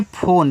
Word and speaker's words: phone: PHONE, देखो इसको पढ़ते हैं फ़ोन। फ़ोन एक आपका इंग्लिश वर्ड है जिसमें ई का उच्चारण हम नहीं करते हैं, तो PH से आपका फा, ओ से ओ की मात्रा, यन से ना फ़ोन।